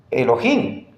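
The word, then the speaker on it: אלוהים: ahí dice me Elohim Pero de dónde me invento yo que eso se pronuncia Elohim Aquí está amigos noten que la aquí arriba dice transliterar más o menos Esa es la pronunciación me Elohim ahí en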